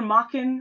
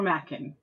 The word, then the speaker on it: Machen: been reliably informed that it is either mocking or Mackin but to make my